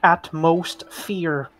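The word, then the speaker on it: AtmosFear: But one of the rides is called Atmosphere, but it's spelled atmosphere, but people pronounce it at most fear.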